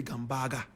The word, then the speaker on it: Gambaga: All the way in Wale and Gambaga. Some people say Gambaga. Correct pronunciation, Gambaga.